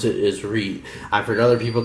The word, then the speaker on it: Reate: this particular company that's how i'm going to pronounce it as reed so without any further ado this is the